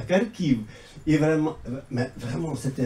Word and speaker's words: Kharkiv: Non, à Kharkov. En ukrainien, c'est prononcé à Kharkiv.